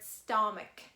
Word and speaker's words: stomach: it as shadio and there is only one word where you can see ch at the end as the sound ku and it is the word stomach for example we can